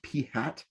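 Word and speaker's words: p̂: It's pronounced P hat.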